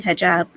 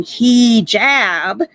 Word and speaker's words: hijab: really I mean I've seen I've been saying hijab since I started my channel because that's how it's pronounced that's how I pronounce it and ever since I made a serious point of to stop saying he Jab now she's suddenly saying it correctly I don't